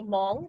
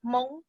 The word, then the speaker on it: Hmong: H-M-O-O-B is how you spell it in Hmong, okay? So you guys say Hmong, but the correct pronunciation is Hmong, Hmong, okay?